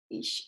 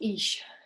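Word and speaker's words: Ix: Ish. It's actually pronounced Ish.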